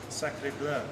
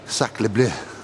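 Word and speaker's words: sacré bleu: How do you say it? Sacre bleu. Sacre bleu. Is that French, isn't it? I think.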